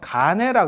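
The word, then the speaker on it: 乾慧: 그래서 예전에 선종에서는 하늘건자를 써서 간해라 그래요. 간해. 이거는 건인데 마르다고 할 때는, 그러니까 하늘이라고 할 때는 건이라고 하고 말랐다. 그럴 때는 이거를 간이라고 발음을 하거든요.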